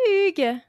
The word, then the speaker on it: Hugues: D'accord, bon écoute, je m'appelle Hugo, Hugues, alors je dis Hugo en anglais, c'est plus facile à prononcer pour les Américains.